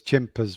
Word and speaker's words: Chimpers: things come about because chimpers rhymes with tempers and that's actually how